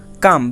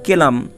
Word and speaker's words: calm: তাহলে CALM দেখো কাম, বিষয়টি এরকমের হয়েছে যে CAM কাম অর্থ শান্ত। হ্যাঁ, তোমরা কিন্তু ভুলে উচ্চারণ CLM কেলাম এরকমের করবে না, এটার উচ্চারণ কিন্তু কেলাম হবে না।